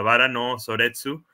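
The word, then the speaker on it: 薔薇の葬列: Rosas en Pues que en japonés se pronuncia vara No soretsu pues vara era como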